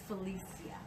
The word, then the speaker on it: Felicia: Well, first of all, and this is something my mom taught me to pronounce my name correct. It is Felicia, and that's okay.